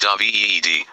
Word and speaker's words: David: David, pronounced Davied Ed, was my first husband.